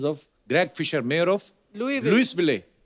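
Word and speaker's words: Louisville: आज आगे तभी बढ़ेंगे लुईस जब लिखा है तो स क्यों नहीं बोल रहे हैं जैसे नाइफ में क साइलेंट होता है के साइलेंट होता है वो तो के पहले आता है ये तो बीच में घुसा हुआ है बट कई बार लुईस प्रोनाउंस होता है एस के साथ और कई बार नहीं वो कई क्यों नहीं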